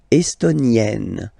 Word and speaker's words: estonienne: L'Estonie, estonien, estonienne. Same thing here, double N, E, and then you open it. E, estonienne, estonienne.